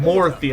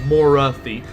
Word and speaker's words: Morathi: Like, because they're like, oh, you're not pronouncing the A. I'm not saying Morothy, I'm saying Morathi.